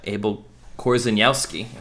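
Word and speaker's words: Abel Korzeniowski: yeah romeo and juliet from 2013 by uh abel korzanowski that's how you say it this one's often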